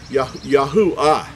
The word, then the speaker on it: Yahuwah: the end of the letter, it has the ah sound. Yah, U, this letter here we're going to get into in just a minute, makes the U sound, ha. Yahuwah. It makes the ah sound at the end because we know that